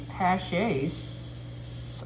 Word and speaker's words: Paasche: using these airbrushes, these Paches, and, golly, it's, I'm gonna spell it for you. All right, it's Paasche. It's odd, you know. That sounds like it comes from a different country.